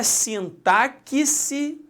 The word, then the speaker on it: sintaxe: Alexandre, é sintaxe ou é sintaxe? É sintaxe. Alexandre, mas eu já ouvi sintaxe demais.